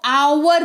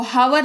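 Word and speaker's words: hour: time duration ठीक है तो आवर पढ़ते हैं इसको हावर नहीं पढ़ते हैं इसको आवर पढ़ते हैं ठीक है तो एच साइलेंट होता है जब जब ये वाक्य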